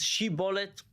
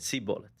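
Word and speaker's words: שִׁבֹּלֶת: And it just so happened that these two tribes pronounce the name of the plant, shibolet, slightly differently. One of them says shibolet, one of them said sibolet.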